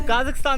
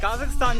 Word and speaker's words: Kazakhstan: तो काज़ाकिस्तान से एग्जिट करते हुए एक बात बताना चाहूँगा कि काज़ाकिस्तान की प्रोनाउंसिएशन काज़ाकिस्तान है, कज़ाकिस्तान नहीं है, जो कि मोस्टली इंडियन बोलते हैं।